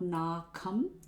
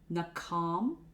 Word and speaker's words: nakham: It is not nakam, nakham, nakam, nakam, etc.